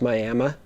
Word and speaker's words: Miami: in miami oklahoma spelled just like miami but pronounced miami and it was me tagging along with russell